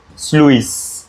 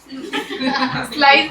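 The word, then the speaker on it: sluice: है when the ये स्लुईस स्लुईस gate ठीक है अबे स्लुईस ही है ना वो क्या पढ़ रहे हो तुम लोग उसको स्लूस स्लाइस बोल रही है जो मरने का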